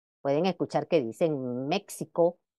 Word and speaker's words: México: o Mejía siendo la la pronunciación correcta de esta X en Esas voces como J Aunque todavía hay quienes pronuncian los ejemplos dados con el fonema ex pueden escuchar que dicen México o Texas Okay o